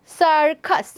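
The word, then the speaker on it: circus: And last one ইজ সার্কাস। সার্কাস, দেখো interesting বিষয়টা হচ্ছে প্রথম সিটা এখানে প্রোনাউন্স হচ্ছে সাউন্ড এবং পরেরটা প্রোনাউন্স হচ্ছে খা, সার্কাস, কারণ প্রথম সির পরে আছে আই আর পরের সির পরে আছে ইউ।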